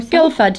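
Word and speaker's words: Guildford: uh the UK in Guilford do you know it's like more Gilford yeah guilford's like not far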